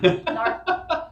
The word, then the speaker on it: Narth: Narth. Rhymes with hearth, like the wall.